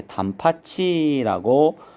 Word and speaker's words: 단팥이: 먹고 싶다 할 때 단팥이 같은 경우에는 치에 시이 몸이랑 만나면 c 이웃으로 이렇게 9개 음으로 바뀌죠 그래서 밭 발음이 이렇게 단팥 치라고 소리가 난다 라는 걸 볼 수가